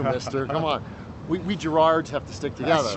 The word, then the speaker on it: Gerard: you say that because in Scotland we say Gerard oh Jared yeah Jared oh Jared I can't even say it can't even say we can because you have that crisp r yes um hey jard that J um and so we put the emphasis on the first syllable but in America it's that Everlasting infinite second syllable so and people ultimately say Gerald which I hate I